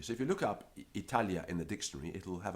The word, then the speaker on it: Italia: example Virgil mangles Italia it should be Italia with a short I but Virgil prolongs the first eye and not only that